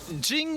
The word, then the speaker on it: Jing: big question though is Jing and Jing's the right pronunciation rhymes with King a king's play cell